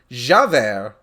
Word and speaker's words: Javert: Like, it caught me off guard when you first typed it because my brain just immediately pronounced it Javier, and I'm just like, wait a minute, that's not his name.